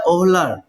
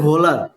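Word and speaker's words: Wöhler: বোলার, German বিজ্ঞানী বোলার, যদিও German ভাষায় ওলার হয়, মানে এমনে WOHLER, আমি যদি নর্মালি উচ্চারণ করি তাহলে ওহলার, কিন্তু জার্মান ভাষায় ডাব্লিউ এর উচ্চারণ হয় ভয়ের মতন। এটারে আমি বলতে পারি ভোলার, ফ্রেডরিক বোলার।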